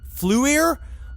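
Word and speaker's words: FLIR: Fluier forwardl looking infrared pronounced fluier fluier.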